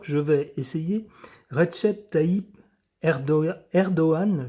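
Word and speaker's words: Erdoğan: Je vais essayer Redchet Taib Erdoan, je crois qu'on ne prononce pas le G qu'on dit Erdogan.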